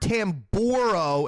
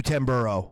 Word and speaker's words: Tamburro: change out so it's supposed to be Robert tamborow and it's Robert 10 burro Yeah it's you're right I do call you Tim burrow and that's that's the way I pronounce it